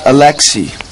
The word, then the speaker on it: Alexi: spell your first name well it's pronounced Alexi but it is spelled a l e x i what about you Angie